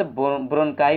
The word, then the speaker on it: bronchi: इसको friends ब्रोनकाई पढ़ेंगे, ध्यान रखिएगा इसको, इसका जो उच्चारण है आप लोग थोड़ा सा उल्टा है यहाँ पर।